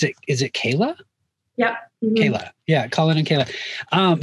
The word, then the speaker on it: Kayla: it's colin um and forgive me if i'm pronouncing is it is it kayla yep kayla yeah colin and kayla um so i i